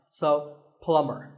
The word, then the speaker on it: plumber: plumber not a plumber the B is silent so plumber in fact in many